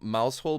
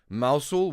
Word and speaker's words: Mousehole: And um there's Don Connell called Mousehole, but it's pronounced Moushul, which is a thing, but that's how you guys do it, right?